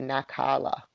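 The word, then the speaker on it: נַחֲלָה: Says here, and I'm saying it wrong, it should be nakala.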